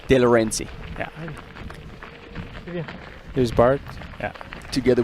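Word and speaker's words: Delorenzi: How do you pronounce again? Who? Roberto De Laurenti. De Laurenti.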